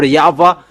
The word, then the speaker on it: Yahweh: encyclopedia with Wikipedia, that in Jewish they pronounce W into V, and that has been from minus 200.